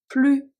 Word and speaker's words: plus: Plus que 2 heures à attendre. Then we have, of course, the very confusing when the S is silent, but we are still going to pronounce it as a Z sound, because why not?